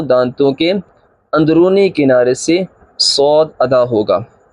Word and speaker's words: صاد: کے اندرونی کنارے سے صاد ادا ہوگا۔ اب صاد کی سپیلنگ اس طرح، صاد زبر الف مد دال، دال حروف کلکلہ ہے، کلکلہ ہوگا اور مد ہے، مد کو کھینچیں گے، صاد۔ اسی طرح لفظ کو